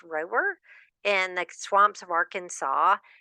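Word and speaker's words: Rohwer: He spent most of his childhood at Camp, I think it's pronounced Rower, in the swamps of Arkansas, and then even more time at the windswept Camp Toole Lake in Northern California.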